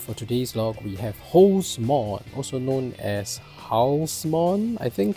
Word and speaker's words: Halsemon: There's the Japanese version of his name that's called Holsmon, which is based on Horus, which is the hawk-headed Egyptian god, so it's Egyptian origin.